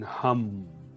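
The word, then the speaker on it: Ham: And we're going to tone the tone hum. So it's spelled H-A-M, but it's pronounced H-U-M. So it's like humming.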